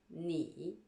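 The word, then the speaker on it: nǐ: La première partie, la consonne, N, mais ça se prononce ne en chinois. La deuxième partie, la voyelle, I. Et la troisième partie, le ton, le troisième ton. Ne, I, ni.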